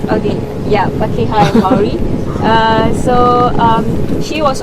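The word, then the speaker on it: Pākehā: Pakeha. Okay, yeah, Pakeha and Maori.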